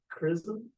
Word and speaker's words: XRISM: to pronounce it but I'm told it's like charism correct okay so somehow the X sounds a little bit like a Kai perhaps okay and yeah